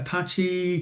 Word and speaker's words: Apache: So, Enjix, Enjix, I'm told it's pronounced, uh, Apache, Cloudfare Server.